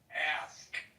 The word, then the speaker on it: ask: For all of those people who have a little difficulties in their pronunciation, say the word ass, then say the K sound. Ass, ask.